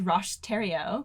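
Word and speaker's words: Roch Thériault: really special guy uh his name is rosh tario that's the pronunciation that i'm gonna go with i hope i'm doing it right um he's an interesting guy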